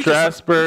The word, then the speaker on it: Strasburg: Your Yankees have scheduled meetings with Cole and Strasburger?